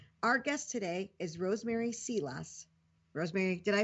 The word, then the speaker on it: Seelaus: applified marketing Our Guest today is Rosemary seos Rosemary did I pronounce that right seos seos okay good and please and please call me